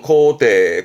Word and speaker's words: 肯定: 발음은 코테, 코테.